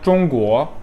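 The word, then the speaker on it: 中国: Ya da mesela Zhongguo, Zhong birinci ton, Guo ikinci ton, yükselen ton.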